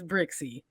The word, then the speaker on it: Brixey: But from my understanding, growing up in Chicago, that's how you pronounce those names, Brixie.